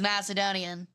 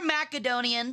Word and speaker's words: Macedonian: He's Macedonian or Macedonian depending on your pronunciation. Both are valid.